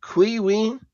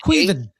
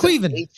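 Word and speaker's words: Caoimhín Kelleher: Uh, Queen Keller and Queven Keller.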